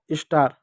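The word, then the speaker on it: star: बच्चों देखो यहां पर एस और टी है बीच में मात्रा नहीं है तो एस को आधा लिखेंगे आधा स लिख दो पूरा ट लिख दो ए का आ की मात्रा आर का र हो गया स्टार।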